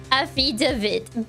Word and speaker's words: affidavit: Affidavit. Because... Better because stressing the second syllable sounds smarter.